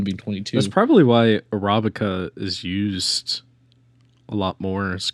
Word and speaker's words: Arabica: Getting the emphasis on the right syllable. Oh, that's always gets me. You really got to stress the second syllable.